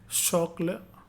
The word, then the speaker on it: chocolat: The French consonant blend, CH has the sound of SH like in English word machine, shin, machine. Okay. Santé, acheter, okay, acheter, chien, chocolat, parachute, parachute.